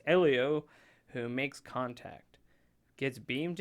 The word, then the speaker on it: Elio: it's like Amo like Amo you just say Elio it says in the story 11-year-old dreo dreamer